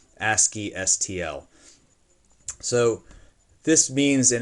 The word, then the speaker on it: ASCII: We often say this ASCII as an ASCII. That's how we pronounce that. ASCII STL.